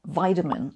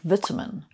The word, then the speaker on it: vitamin: And then there are words which are the same but are pronounced somewhat differently, like tomato and tomato, or vitamin and vitamin.